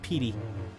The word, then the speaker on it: Petey: We have six puppies, 4 kitties, a snake, 3 birdies, and a prairie dog named Petey. PD like prairie dog, but Petey pronounced Petey, right?